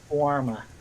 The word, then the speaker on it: Guarma: Guarma? How do you pronounce it? Warma.